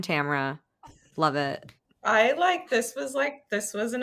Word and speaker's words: Tamara: Rhymes with camera, new friend Tamara.